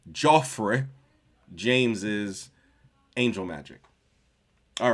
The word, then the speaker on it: Geoffrey: We are reading Jeffrey or Joffrey since it's uh spelled with a G. Joffrey James's angel magic.